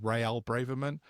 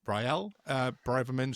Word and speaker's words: Rael Braverman: from, I always pronounce Sorry, his are you name wrong because I counting? read it as Real Braverman, and it sounds like a third division Spanish football team, but it's Raymond's husband, isn't it? Rael Braverman, Suala's husband.